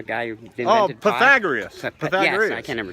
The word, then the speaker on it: Pythagoras: What's Paragathus? What is Paragathus? The guy who invented Oh, pi? Pythagoras.